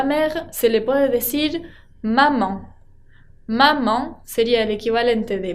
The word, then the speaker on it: maman: se le puede decir maman. Maman sería el equivalente de mamá, pero termina con una nasal. La A con N, que acuérdense se pronuncia nasal maman.